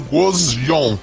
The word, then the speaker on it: Gusion: O nome de Guzion é pronunciado Gozion e significa pombinha.